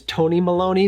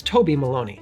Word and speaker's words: Toby Maloney: For the longest time, I actually thought his name was Tony Maloney because it rhymes, and I just thought that that would be a fun name, Tony Maloney, but it's not, it's Toby Maloney.